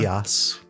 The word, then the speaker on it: Geas: Geas. Geas? Is that it? Mm-hmm. Geas.